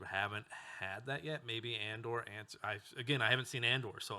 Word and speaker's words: Andor: Maybe Andor. I haven't seen Andor, so if everyone dies, I'm sorry. But Oh, you're cringing me right now. It's not Andor, it's Andor.